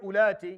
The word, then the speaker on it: أُولَاتِ: So the wow there, because for our recitation for Hafs and Asim and Tariq al-Shatibi, we don't pronounce it. We say وَإِن كُنَّ أُولَاتِ. Ulati. We don't say ulati. We don't give a wow.